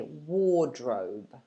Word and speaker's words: wardrobe: can forget about and instead just lengthen the vowel so we say war war and then obviously you say the next one so you say wardrobe wardrobe try it with me wardrobe there's two syllables wardrobe i'll give you